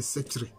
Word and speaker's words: Sèkyire: Alors que la bonne prononciation c'est Setchre. Voilà.